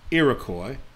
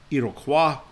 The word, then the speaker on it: Iroquois: the league of the iroquois and again i'm using the english pronunciation of that it would actually be iroquois which is french but you know we're going